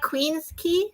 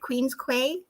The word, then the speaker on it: Queens Quay: houston like wait it's spelled houston but it's pronounced houston it was great yes what is happening or like queens key right queens quay people yeah queen's key that's just that's not